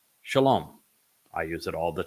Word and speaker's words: Shalom: um but the Shalom the word Shalom derives the o sound from the Hebrew uh vowel W mystery solved this is